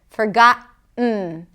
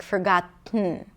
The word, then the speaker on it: forgotten: Manhattan, forgotten, forgotten, forgotten. So this is where glottal stop can actually help us if we struggle with pronouncing the nasal T, like forgotten, and we don't want to pronounce the full